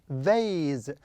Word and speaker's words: vase: Yes, it is vase. Vase. Why? Because I have A, any letter, then E. Okay? Because of this, I pronounce it as A.